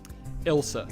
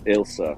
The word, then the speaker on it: Ilsa: I'm gonna start Isla Fosk. Is that how you say her name? How do you say it? Ilsa. Ilsa.